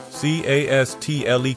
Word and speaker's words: castle: The T is silent.